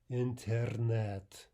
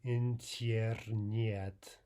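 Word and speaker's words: интернет: Finally, in borrowed words, especially from French and English, Russian will typically write yeah, but pronounce ah. This holds generally for most borrowed words, but there are exceptions, as we'll see right here with the word coffee. The Russian for internet is internet, not internet. Right? So we're pronouncing both yes as though they were as, right?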